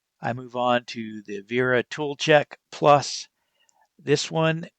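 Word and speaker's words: Wera: I move on to the Vera Tool Check Plus. This one is a little bit more expensive. Uh, Vera. Uh, it's spelled W A, but it's German, so it's pronounced Vera.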